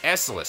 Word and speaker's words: Esseles: the passengers and crew of the Republic transport esus thank you oh it's esus that's how you pronounce it well let us celebrate for a